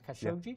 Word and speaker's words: Khashoggi: murder of a Washington Post reporter named Jamal Khashoggi. Mm-hmm. I think I pronounced that right, Khashoggi.